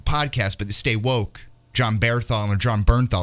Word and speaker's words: Bernthal: I love John Bernthal. Am I pronouncing that right? Yeah, you got it right. I used to think it was Barenthal for the longest time. I was adding an I for no reason.